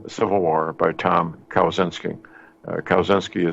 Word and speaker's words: Kaczynski: Kaczynski is spelled Kawczynski, phonetically, Kilo, Alpha, Whiskey, Charlie, Zebra, Yankee, November, Sierra, Kilo, India.